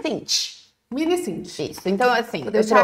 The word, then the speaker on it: MiniSint: Como é que pronuncia? Sint. MiniSint.